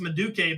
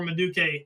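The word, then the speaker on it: Madueke: But the fact that he started against Everton over I think it's pronounced Maduke, but he's like a young English winger who's Yes.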